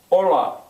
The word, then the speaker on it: hola: An initial TH, that means if it starts the word, it's silent. Hola starts with an H.